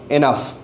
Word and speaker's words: enough: ENOUGH, यहाँ पर भी OUGH का जो प्रोनाउंसिएशन है वो अफ है, अफ उसका प्रोनाउंसिएशन है। इसी तरह से अगर हम ROUGH को देखें तो यहाँ पर भी OUGH का जो प्रोनाउंसिएशन है वो अफ है। रफ, टफ, इनफ, ये तीनों शब्दों का जो OUGH का प्रोनाउंसिएशन है वो राइमिंग है, एक दूसरे के धुन में आता है, अफ प्रोनाउंसिएशन होता है।